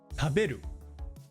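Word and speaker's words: 食べる: Taberu.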